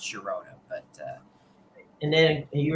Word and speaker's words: Girona: there's some sort of rule in Spanish where the where the GI makes a uh sound but it doesn't always because uh I'm pretty sure in Spain the club Sharona is GI and that's pronounced Girona but uh and then